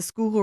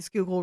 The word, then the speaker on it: Schuylkill: that was located where the waters of the Schuylkill River meet the Valley Creek.